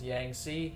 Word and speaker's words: Yangtze: you pronounce it is yang c and so the t is basically silent um this is actually